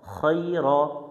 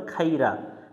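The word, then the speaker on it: خير: র জবর র, খই র। এখানে অনেকজনে ভুল করে খাইরা, খাইরা পড়া যাবে না, খই র।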